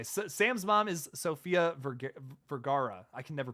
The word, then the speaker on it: Vergara: I know it's not Viagra.